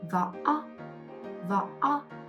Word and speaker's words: Võ: It also a round shaped vowels, but when you pronounce it, you have to open your mouth a little bit bigger. O. With the V, we got Võ. Now adding the tone. Võ.